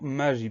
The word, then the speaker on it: magie: Première syllabe ma, M-A, deuxième syllabe J, le son J s'écrit avec un G. Ensuite, on a la lettre I, et à la fin, on a une lettre qu'on n'entend pas, c'est la lettre E.